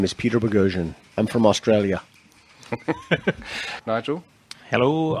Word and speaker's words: Boghossian: And Peter Boghassian. My pleasure to be here. My pronunciation still working, Peter? Absolutely perfect.